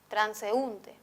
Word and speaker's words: transeúnte: En transeúnte, la sílaba más perceptible es la U, transeúnte. Ella es la sílaba tónica.